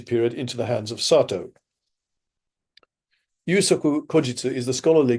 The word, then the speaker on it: Satow: Sato, I should say. Sorry, I think I slightly mispronounced.